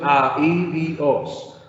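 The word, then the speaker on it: ἀΐδιος: Yo digo A, I, Di, Os. Esa es la pronunciación, A, I, Di, Os.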